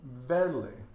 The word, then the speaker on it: verle: And I'm still practicing my V's, which are pronounced like a B, so verle, and I tend to